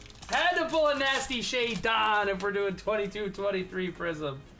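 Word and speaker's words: Shaedon: And then one day you guys were like, you know that's not how you pronounce Shade Sharp, right? Shea Don on the Mojo.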